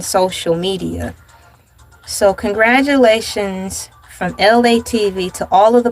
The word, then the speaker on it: Elay: My name is Elay. Pronounced like LA, like the city.